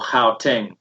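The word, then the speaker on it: Gauteng: money is spent in johannesburg or hao teng as we pronounce it and i would say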